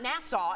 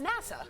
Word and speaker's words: NASA: wrong every single time it's not Nassau it's NASA NASA yeah I say it